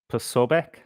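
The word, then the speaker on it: Posobiec: Now, I heard that it's pronounced in different ways. Pobec is uh what some people would pronounce it, but I'm going to pronounce it P soich pos because it's a Polish name.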